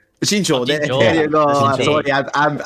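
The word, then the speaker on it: Jinzhou: Jingu.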